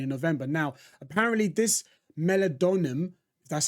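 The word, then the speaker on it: meldonium: Duty in Ukraine in November now apparently this melad donum that's how you pronounce it is only available in certain parts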